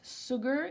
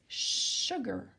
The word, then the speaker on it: sugar: well sugar okay sugar be careful it's not an S it's not sugar it's sugar okay sugar sugar was